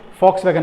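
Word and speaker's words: Volkswagen: It's pronounced and वॉक्सवैगन, German company है, तो German में क्या होता है कि इंडियन जो टर्म्स में वी है, this is pronounced as फैक्स, ठीक है ना। तो यहाँ पे हम वॉक्सवैगन है, लिखा ऐसे जाता है, बट the pronunciation is फॉक्सवैगन। अगर आप जर्मन एक्सेंट में कर रहे हैं तो इट इज फॉक्सवैगन, ठीक है।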